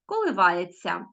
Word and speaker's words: коливається: який знак ся ся Тобто ми вимовляємо Т м'який знак точніше пишемо Т мякий знак ся а чуємо коливається чуємо Ця так само